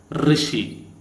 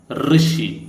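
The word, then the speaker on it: ऋषि: study about this okay now this is pronounced like R so this is r r r r sound okay it is r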